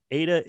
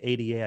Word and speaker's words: Ada: 181 million Lovelace no pet peeve of mine ADA is pronounced ADA when I hear people say ata I just kind of go who because it's